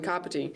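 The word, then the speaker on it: Kāpiti: The ka from kapiti sounds like the car we drive.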